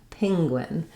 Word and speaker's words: penguin: And so you might even hear almost something sounding like ping, penguin. So I wouldn't recommend trying to change your vowel here.